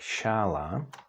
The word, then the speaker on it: šála: would be a bridge and again if we add the hook to S we get sh and that's pronounced the same as in the English word clash in check you can